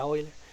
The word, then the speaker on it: Euler: Hay algo que se llama los ángulos de Euler o las rotaciones de Euler o Euler, pero se pronuncia Euler.